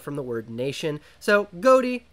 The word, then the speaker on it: Ghoti: the word Nation so goatee actually supposed to be pronounced as fish it's a bit of